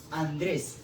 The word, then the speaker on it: Andrés: Otro ejemplo de ello es Andrés. Como observamos, termina en S y lleva su acento en la última sílaba.